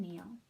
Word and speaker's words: kneel: We also have the n sound spelled with our K in, where that K is silent. We don't have to make the k sound for the K. The K and the N work together to say n, like in knit and kneel.